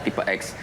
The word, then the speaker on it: Tipe-X: Bukan dari tip X yang R Bukan. Bukan. Jadi filosofinya kan ee ini kan tulisannya tipe X. Jadi, harus bacanya tipe X.